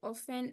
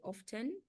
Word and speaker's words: often: few improper use the the word often is written with a t but the t is silent so we say often and we don't say often then instead of saying